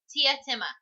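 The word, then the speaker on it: Teatime: But he says it's pronounced Tietima, yes.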